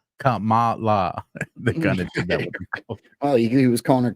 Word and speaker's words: Kamala: is also kind of the way when Trump pronounces her name Kamala oh he was calling her kambla uhhuh and the connected to the drops this